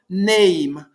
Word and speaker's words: name: É assim, name em inglês é assim, eu não vou pronunciar na hora que eu vou falar, não vou usar esse e aqui. Isso aqui é é um por tem um motivo, uma regra que eu não conheço, mas eu sei que não pronuncio, então eu falo name